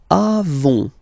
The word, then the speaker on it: avons: Okay, then nous avons, final s not pronounced, avons.